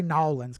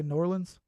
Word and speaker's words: New Orleans: uh Ronan says say New Orleans that's New Orleans New Orleans we don't say no Orleans because I'm not actually from there so I say New Orleans n-o-r-l-e-n-s New Orleans have